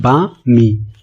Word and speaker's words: balmy: Okay, तो इसके लिए जो वर्ड यूज होगा वो होगा बामी। क्या होगा? बामी। देखिए यहाँ पे एल साइलेंट होता है, इसका जो प्रोनाउंसिएशन होता है वो इस तरीके से होता है बामी, बामी। ओके, इससे रिलेटेड जो सिनोनिम्स